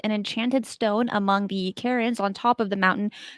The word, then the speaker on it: cairns: that they believe an enchanted Stone among the Karens on top of the mountain could swallow a